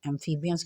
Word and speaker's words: amphibians: एम्फीबियंस का spelling देखिए, AMPHI, फी। जो PH है ना क्लास, वो F की फे की आवाज़ देता है। PHI फी, BIBANS एंस, एम्फीबियंस, एम्फीबियंस, एम्फीबियंस।